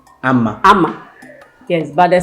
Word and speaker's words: Amma: same agenda spirit so for both Ashanti and fancy it's pronounced Amma Amma Amma yes but the